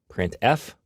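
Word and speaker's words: printf: these three are the most popular they are pronounced print F put car and puts each function is designed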